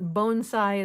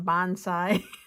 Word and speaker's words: bonsai: our own bonsai and believe it or not bonsai is the way you're supposed to pronounce it, not bonsai. So, I'm trying to uh be correct in my pronunciation even though it sounds a little different.